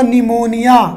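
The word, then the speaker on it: pneumonia: और अगर मैं बात करूँ बेटा और नेक्स्ट बीमारी की, तो आपने सुना होगा निमोनिया, पी से लिखते हैं ना निमोनिया, स्पेलिंग चेक कर लेना भाई, हो सकता है अगर गलत हो तो।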